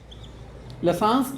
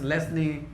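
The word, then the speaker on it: Lassaigne: और इनका जो टेस्ट है लसांस टेस्ट से करते हैं। अब इसकी प्रोनाउंसिएशन की बहस नहीं करेंगे, लसांस, लेस्ने, लसांस, लेस्ने, अलग अलग लैंग्वेज अलग बोलते हैं, मैं लसांस बोल दूंगा, ठीक है जी।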